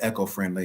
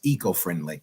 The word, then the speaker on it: eco-friendly: to have you um I said echo-friendly maybe it's the the proper pronunciation is eco-friendly e yeah you say tomato